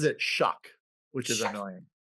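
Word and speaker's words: Shough: So he pronounces it Shuck, which is annoying.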